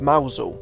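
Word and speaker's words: Mousehole: and jump away from the next village of Mousel, which is often pronounced wrong, and now I was thankfully on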